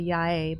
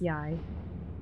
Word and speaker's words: Yae: I really want to say Yae, but it's, I guess, Yai in English pronunciation.